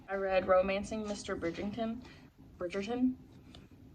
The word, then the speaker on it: Bridgerton: read romancing mr bridgington bridgerton i gotta get that right because i always say it like bridgington but it's bridgette but uh